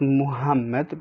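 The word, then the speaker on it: محمد: have a name like muhammad like prophet muhammad peace be upon him you say muhammad not muhammad but you say muhammad or the name ahmad ahmad not ahmed so basically it's a heavy h and we substitute it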